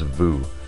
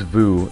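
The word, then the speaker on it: vous: It's pretty straightforward and simple pronunciation. It's just new. Our next word is vu.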